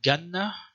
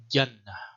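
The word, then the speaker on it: جنة: this word this example an old Hai Jazzy was a pronounced ganna okay not quite sure about this uh the classical Arabic uh the correct pronunciation according to sibo Y should be Jana and by the way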